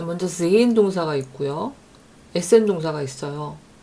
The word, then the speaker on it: sehen: 근데 sehen 동사는 예가 장모음이에요. 왜냐면 예 모음 다음에 하가 나왔으니까 이건 독일어에서 유일한 묵음 규칙에 해당하는 거라고 제가 말씀드렸었어요. 모음 다음에 하가 나오면 이 하는 묵음이 되고 그냥 죽기 뭐하니까 앞에 나온 모음을 장모음으로 만들어준다, 이런 말씀을 제가 드렸습니다.